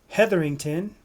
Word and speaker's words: Hetherington: So we have Jim Heatherington. Is that correct? Did I pronounce it right Jim? Uh oh. Jim frozen. Yeah, it's definitely correct. Jim Heather, you got it right.